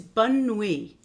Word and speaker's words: bonne nuit: So, English good night, French is bonne nuit. Bonne nuit. Why don't you repeat after me so that you get the pronunciation.